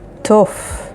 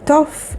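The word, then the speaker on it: תוף: The next word is tof, which means drum. The word tof is spelled with taf, vav, pe sofit, tof.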